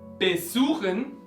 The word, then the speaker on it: besuchen: Tenemos verbos con prefijo no separable, Besuchen está el acento en la primera sílaba del verbo.